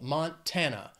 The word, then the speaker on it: Montana: Three syllables, stresses on that second syllable. Montana.